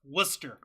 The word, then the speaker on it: Worcester: over in warer Massachusetts wer Worster Worster how is it pronounced Worcester Worcester Massachusetts and the show opens